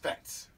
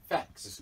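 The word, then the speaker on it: Phat: Mr. Facts? Fats. Facts. It's Fats. Fats. Fats. Facts. It's Fats. How you spell it? P-H-A-T, Fats.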